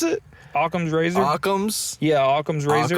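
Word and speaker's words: Occam: yeah about a com's Razer how do you pronounce it aam's Razer aam's yeah aams Razer aams Razer okay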